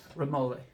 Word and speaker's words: Remole: Remole.